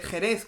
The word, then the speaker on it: Jerez: Quijote era don quixote así era como se pronunciaba en castellano medieval como se escribe Jerez Cuál es la otra forma de escribir Jerez shz con una x porque shz en sea nuestra Jerez hoy día en castellano medieval era con una